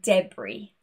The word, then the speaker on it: debris: For example, aisle, island, and debris.